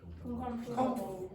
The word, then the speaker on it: comfortable: your comprehension for example the word comfortable nobody says that they say comfortable comfortable that or disappears comfortable okay another thing uh